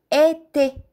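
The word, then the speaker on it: été: колело ете означава лято в думата имаме в началото и в края остро ударение изговаряме е ете ете н фе означава фея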